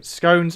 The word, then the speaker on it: scone: happen um but anyway scones are pronounced um scones are pronounced scone I don't know why